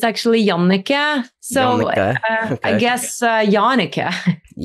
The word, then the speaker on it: Jannecke: In Norway, it's actually Jannecke.